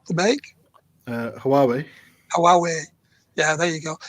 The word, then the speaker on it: Huawei: Earlier on, when you were talking about your phone saying, and you mentioned, how's it pronounced? The make? Huawei.